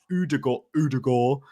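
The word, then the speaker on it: Ødegaard: If I say Erling Haaland, they think it's funny because it's not how they say it in Norway. So I know we've got some Norwegians in the chat, so please back me up. You've got to say it properly, right?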